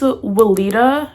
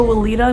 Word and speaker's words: Weleda: which I do before my makeup, I use Weleda, I think it's pronounced, the Skin Food Original Ultra Rich Cream.